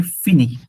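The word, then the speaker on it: finir: এটা হচ্ছে ফিনি। ফিনি। ফিনি। ফিনি। হ্যাঁ, সবসময় হচ্ছে ওই যে লাস্টের যেই লেটারটা থাকে ফ্রেঞ্চের মধ্যে, লাস্ট লেটারটা থাকে না আর কি, পড়া লাগে না।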